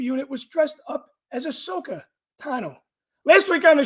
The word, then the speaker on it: Ahsoka: was dressed up as Ahsoka Tano. Last week on the show, I called her Asaka because I was thinking of sake, as my friend Barry Harmon always pronounces it.